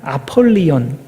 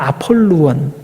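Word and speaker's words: Ἀπολλύων: 이 한국어로 번역하는 아볼루온이라고 했는데, 원래의 그 발음은 아폴리온 아니면 아폴루온, 그거예요. P를 한국식으로 이제 B라고 이제 발음을 해서 그런 건데, 어쨌든 아폴루온입니다.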